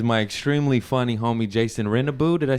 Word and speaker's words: Rennebu: My guest today is my extremely funny homie Jason Rennebu. Did I say it right? Rennebu, of course, Fuck man.